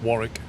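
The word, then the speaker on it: Warwick: You don't pronounce the second W, John. It's Warrick. Just Warrick. As if there was no second W.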